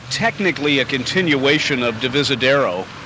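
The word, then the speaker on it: Divisadero: technically a continuation of devisadero uh am I pronouncing that right yes you because I think I used to call it D visitado or something until I checked the spelling but the major North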